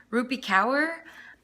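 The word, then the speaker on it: Rupi Kaur: milk and honey um I believe it is pronounced rupee cower I'm not positive on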